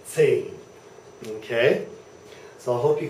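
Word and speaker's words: zehn: And that is not Tain and it's not Zane. It is Zane. Hear that? Zane. So there's that TS there. Zane. Zane is the pronunciation. Zane.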